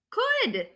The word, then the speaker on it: could: Okay, rhymes with should. Change that SH to a k sound. Now the word is could.